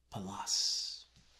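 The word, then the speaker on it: Pallas: there's a reference to palace it's like dallas with a p for peter pronunciated palace it's greek but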